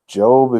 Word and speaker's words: Job: or a oh it could be pronounced either way Jobe if you don't know